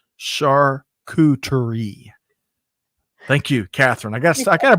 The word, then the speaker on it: charcuterie: Catherine says she's helping me with my pronunciation. Charcuterie.